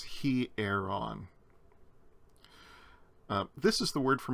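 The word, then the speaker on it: ἱερόν: on the first vowel it's a rough breathing and that's not a diphthong the iota and that epsilon are pronounced separately so it's he air on this is the word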